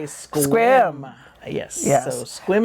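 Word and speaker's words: Sequim: Yes, you say squim.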